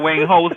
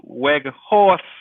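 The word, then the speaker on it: Weghorst: It's not Wang House Jet. Pronounces is Weg Horse.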